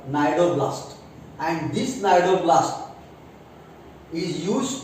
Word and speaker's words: cnidoblast: Then these tentacles, they contain stinging cells called cnidoblast. Again, C is silent. They contain stinging cells called cnidoblast.